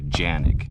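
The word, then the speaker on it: Canik: This is a gun made in Turkey, and in Turkey they pronounce the name of the gun Janik.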